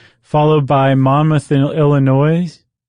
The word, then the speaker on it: Illinois: Followed by Monmouth, Illinois. I forgot the S is silent.